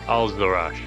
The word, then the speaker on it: Al-Zarash: Al-Zarash. Say it like that. One more time. Al-Zarash. Al-Zarash. There you go.